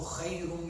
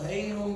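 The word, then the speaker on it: خير: Azan, for example, As-salatu khayrun min al-nawm. The kha here, As-salatu khayr. The people don't say this kha. This is As-salatu hayrun min al-nawm, hayrun. They miss the kha.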